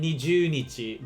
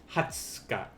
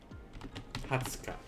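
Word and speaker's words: 二十日: day be then now the 20th i think you can get away with with saying nijunichi but i think it's more customary to say uh for for the 20th to say hatsuka hatsuka so the big ones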